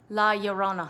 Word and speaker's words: Llorona: watching i apologize the curse of la llorona la yorona that's what i said so that movie because every time you pronounce it it makes me around saying it